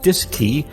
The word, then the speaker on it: DSKY: digital display and keypad known as the dsky pronounced disk key on board both the cm and lm mission control at houston also had a disk key to interface with the agc for remote control